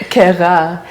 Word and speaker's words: Kayra: Well, it's actually like pronounced Kayra. Kayra.